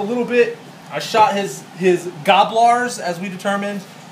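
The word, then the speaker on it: Gnoblars: I shot his Gobblars, as we determined. The N is silent.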